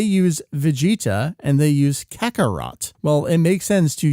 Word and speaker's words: Kakarot: from the end of Kakaroto. That double T, that consonant sound is inferring and indicating that hard ending sound. That's why we would spell it as Kakarot instead of Kakaroto, or for a more